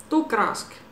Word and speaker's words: Tuukka Rask: Tuukka Rask, even though he's not there at the moment.